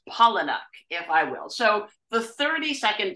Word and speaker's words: Palahniuk: right now transitioning immediately to Chuck pronounced pollen if I will so the 30